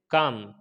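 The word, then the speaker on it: calm: इसी तरीके से काम, एम से पहले एल आ गया, ये भी साइलेंट हो जाएगा।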